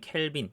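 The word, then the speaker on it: Calvin: 영어로는 캘빈. 우리 캘빈 클라인 할 때 그 캘빈이고요. 프랑스어로 이제 칼뱅이라고 발음을 하는데 자요 사람도 이제 종교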